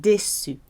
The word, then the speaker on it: déçu: But of course, E acute accent gives it the I sound, like déçu.